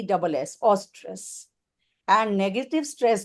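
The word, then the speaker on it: eustress: उसको हम बोलते हैं ऑस्ट्रेस। उसकी स्पेलिंग है ए यू ई यू एस टी आर E double S ऑस्ट्रेस and negative स्ट्रेस को हम बोलते हैं डिस्ट्रेस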